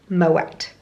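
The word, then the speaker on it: Moët: little bit wrong but because of the little dots on the E you do pronounce the letter afterwards so found that out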